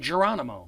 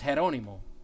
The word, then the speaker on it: Geronimo: And English people called him Geronimo, because that's exactly how it's spelled. But in Spanish, it's Geronimo. So, you know, Geronimo, if